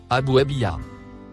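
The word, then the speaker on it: أبوابها: Le mot écrit en couleur verte se prononce Abouabia.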